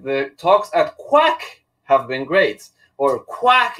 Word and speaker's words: QHack: talks at q hack have been great or q hack is awesome the music and the 80s theme